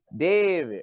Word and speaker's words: David: David. Right. Just like how we say baby. You know what I mean? You got to say David. So my real name is David.